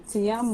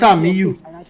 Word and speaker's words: Tiamiyu: Tiamiyu or what? Sorry. Sorry, and everybody has in like Tiamiyu, but that's Tamiu. Let's just call him Tamiu. I think the I is silent.